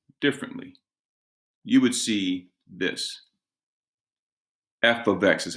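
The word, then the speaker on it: f(x): see it expressed differently you would see this F ofx is how you say that F ofx it's pronounced f of x that's how you say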